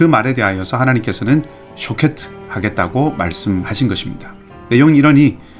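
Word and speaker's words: שֹׁקֵד: 이 살구나무의 발음과 지켜본다는 말의 발음이 비슷합니다. 살구나무는 샤케트이고 지켜본다 혹은 살펴본다 라고 하는 말은 쇼케트입니다.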